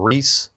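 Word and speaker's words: Rhys: And that's from Reese. They spell it differently over there. R-H-Y-S Hamer.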